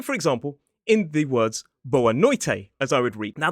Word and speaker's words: boa noite: Likewise, in certain conditions, Brazilians will pronounce a T as more like a ch noise. So, for example, in the words boa noite, as I would read.